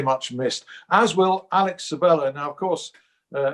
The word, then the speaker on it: Sabella: that player was alex sabella briefly people told us oh no it's sebaya you've got to pronounce it surveyor we went back to savella it didn't matter because